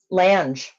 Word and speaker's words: Lange: Is that how you say his name? Lange. Lange. Oh, I almost called him Ted Lang.